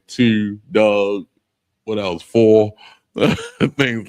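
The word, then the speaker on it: דג: So the next one is fish and it's pronounced dog. um dog and it's spelled D A G but it's pronounced dog.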